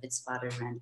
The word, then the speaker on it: Witwatersrand: It's a bit confusing because the Weiser, you pronounce the W, but the Witwatersrand you don't.